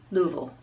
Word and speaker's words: Louisville: you have to pronounce Louisville instead because even if you were saying lui Ville even it's almost like you're taking Louisville in saying it with the southern mumble so try it again Louisville yes yeah that's pretty